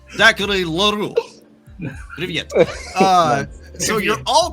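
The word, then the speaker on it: Zachary L'Heureux: Zachary Leroux. Привет. So you're all correct in your pronunciation.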